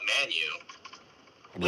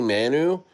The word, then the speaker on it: Manyu: a meme called Baby Manu?" Yeah, it's baby manu. Actually, it's baby manu. I say Manu, but um some people say it like the Y is silent, but hey Shawan, uh put put the contract address.